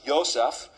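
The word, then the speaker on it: יוסף: It's actually spelled Yod Vav Samik Pei, but it's pronounced Yosef.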